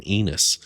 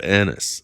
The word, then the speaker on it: Annis: I didn't never saw him before and I called him Enus instead of Annis.